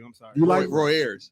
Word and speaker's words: Roy Ayers: And then Ron Avery.